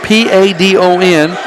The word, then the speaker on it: Padon: 123, it's spelled P-A-D-O-N, and they pronounced it Padon.